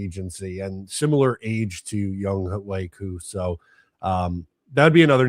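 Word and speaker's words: Younghoe Koo: It is Young Wei Koo. Even though it looks like it's Young Ho, it's Young Wei.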